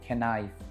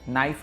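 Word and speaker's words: knife: কেউ কখনো বলেনি খেনাইফ খেনাইট। এই কে যেন বসে থাকে এখানে অভিমানী সৈনিকের মত।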